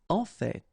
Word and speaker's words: en fait: En fait. So whether you pronounce the final T or not, you can hear both. En fait, en fait, en fait. I'd rather pronounce it personally.